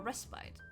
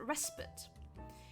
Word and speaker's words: respite: And I spoke to an American who he pronounced it respite. And turns out in Britain they say respite.